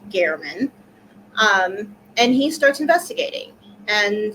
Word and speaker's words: German: His name is Jeff German, spelled German but pronounced German.